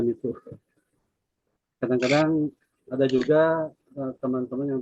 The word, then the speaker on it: MITO: pembelajaran sosial emosional dengan menggunakan metode MITU, sebut dibacanya MITU.